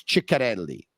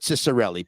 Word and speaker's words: Ciccarelli: It's just that in North America, people still call Dino Ciccarelli Cicarelli. Well, his name was Ciccarelli, but they call it Cicarelli because they Americanized it, and it's easier.